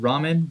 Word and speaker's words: Raman: I like to pronounce it ramen, but honestly, it's your pronunciation in the end.